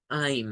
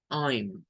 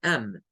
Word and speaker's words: I'm: Recuérdense que la contracción I apóstrofe M deben de acostumbrarse a pronunciarla como, la voy a escribir aquí como más o menos con el phonetic spelling. Es pronunciarlo como I'm, así. I'm. Esta debe ser la forma en la cual usted debe de pronunciar esa contracción para sonar como un native speaker.